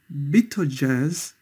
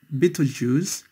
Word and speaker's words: Betelgeuse: Sirius, Capella, Rigel, Procyon, Betelgeuse, also sometimes pronounced Betelgeuse, and 2 more stars belonging to the list of 20 brightest stars, Aldebaran and Pollux.